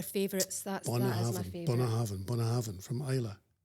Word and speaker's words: Bunnahabhain: one tonight actually um but it's Bonahav Bonahav. So, we're turning the BH into a V, right?